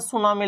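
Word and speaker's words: tsunami: और इसको लिखने में ना बेटा टी साइलेंट रहती है, उसके बाद सुनामी लिखा जाता है, ठीक है ना, ये बात माइंड में रखना है।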